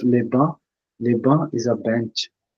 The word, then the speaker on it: bancs: So, la banque, so it's pronounced as ba, and we don't pronounce C here. So that we don't pronounce. So it's les bancs.